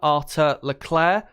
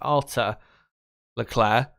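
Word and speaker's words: Arthur Leclerc: pronounce his first name I think it's pronounced Arthur Leclair uh I'll probably pronounce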